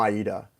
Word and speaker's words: Aida: really the salt it's from Aida the Broadway show beautiful song check it out it's pronounced like the giuseppe play but my question is